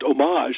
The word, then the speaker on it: homage: pronounce it homage but they spelled it with an H and they just didn't pronounce the H and from there the